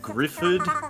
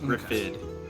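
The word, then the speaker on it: Gruffudd: Griffid.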